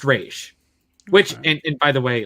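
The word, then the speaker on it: Ra's: first aired but i think he calls him roz and then he's like no it's pronounced rage so what wrong little [ __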